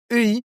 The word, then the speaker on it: 의: Alors, sachez que EI, la plupart du temps, les Coréens vont la prononcer E. Ce n'est pas une obligation. On peut dire EI, mais vraiment, 99% du temps, les Coréens vont dire E.